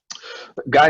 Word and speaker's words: Guy: and asking yes it's i often get ghee in canada but it's actually guy in my case all